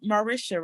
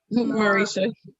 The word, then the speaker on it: Mauricio: like she said like how you say your name marisha right because i don't want to say it wrong mauricio mauricio yeah just said um i